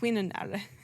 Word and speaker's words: Quirinale: I've been told you just pronounce every letter. Quirinale.